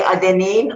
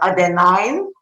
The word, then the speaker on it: adenine: type of nucleotides adena british and americans pronunciation is different either you can say adenine or adenine and thymine cytosine and guanine